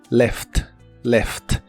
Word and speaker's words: left: Se pronuncia tal y como se escribe. left, left. Por cierto, este es un verbo, no lo confundas con la palabra izquierda, ya que se escriben y pronuncian igual.